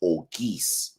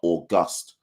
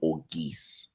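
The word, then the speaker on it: Auguste: In St. Lucia, his surname is pronounced Orgeese, not August." And that's how I've known ever since then, straight from the horse's mouth, so to speak. So Akeem Orgeese.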